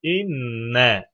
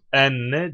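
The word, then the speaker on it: إنّ: Gavul maddesinden sonra esre okunur demiştik. Bu yüzden inne diye okunur. Enne değil.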